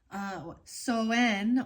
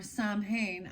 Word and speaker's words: Samhain: Apples have been a symbol of Soen or Samhain. I say it wrong every time.